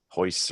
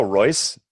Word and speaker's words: Royce: camera froze Hickson or hoists or they'll start with J right anyway well it spelled with an R but it's pronounced as an H right which makes a